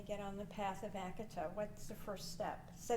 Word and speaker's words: Akatha: website acted said calm AKA tha it's pronounced a katha there's no th sound in Sanskrit yeah I had to